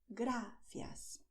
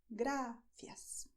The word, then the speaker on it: gracias: In Spanish, you have gracias. The movement of your tongue is this. Gracias. Just like this, okay? So your tongue, this movement, it goes to the back, to the front teeth and then back without rolling backwards, okay?